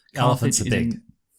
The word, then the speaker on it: Carthage: Dylan, it's just Carthage. Okay. It's quite easy. Oh, it's just cuz it has a G in it. I thought Kaggi, you know, I was like I like I like pronouncing all the letters.